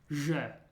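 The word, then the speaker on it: Ж: The first one is pronounced je. Je. And it's like a ZH put together to make a j sound.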